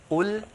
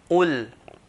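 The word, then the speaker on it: قل: So Qaf, we should not pronounce as Kaf or else the meaning will change. So Qul, Qul, I highlighted the heavy letter, okay, heavy letters in green.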